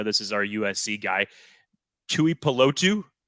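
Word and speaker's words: Tuli Tuipulotu: Tell me that I'm pronouncing this right, because I know this is our USC guy, Tui Pelotu. Tuli Pelotu, correct?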